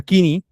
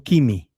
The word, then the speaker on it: koiné: Porque, por ejemplo, en el griego koiné, que recientemente escuché que se pronuncia kini, no kimi, kini con N.